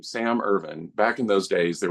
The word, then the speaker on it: Irvin: I'm IV iin but they're pronounced exactly the same so when I said my name is Sam irvan he went oh are